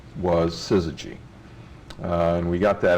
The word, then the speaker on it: syzygy: to bother us and people called us suzuji and suzuji and we thought that